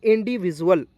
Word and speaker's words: individual: यहाँ पर देखेंगे INDIVIDUAL, तो देखेंगे डी के तुरंत बाद UAL आया, तो इसका उच्चारण दोस्तों ड का उच्चारण जुअल के रूप में करेंगे।